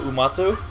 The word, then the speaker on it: Uematsu: You mean Nobuo Uematsu? Uematsu, there we go. Uematsu. I am very good at pronouncing foreign names because I'm a very smart man.